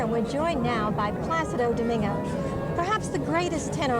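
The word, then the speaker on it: Plácido: you know they say plasti they said placido placido you know they don't realize the accent is with the a plus you know that's the right way to say that's wonderful okay so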